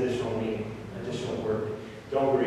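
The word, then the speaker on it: どんぐり: But this is pronounced Guri. This is Don, of course, but we in Japanese you would pronounce it as Don, and then this is the character for Kuri, Guri. And it's pronounced Donguri.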